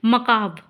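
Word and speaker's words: macabre: मकाब का मतलब होता है इसको देखिए बहुत लोग पढ़ते हैं मैकबरे मैकबार। ठीक है? लेकिन ये गलत है।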